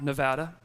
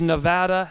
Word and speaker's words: Nevada: in Reno Nevada and it is Nevada not Nevada do we know that do we know that for some reason our state's the only one that has two pronunciations I don't know why nobody calls it Nebraska I've never heard Alaska right next to Canada so it's not Nevada does that make sense